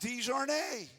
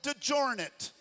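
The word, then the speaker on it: DeJarnette: Our road that goes in front of the church, it should be pronounced DeJarnay. But in Middle Tennessee, they call it DeJarnet.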